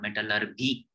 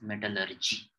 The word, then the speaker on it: metallurgy: It is not metallurgy, it is metallurgy.